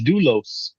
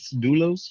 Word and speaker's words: Doulos: it right that's you Eddie oh so it's doulos uh do L doulos and uh at his Greek for a bond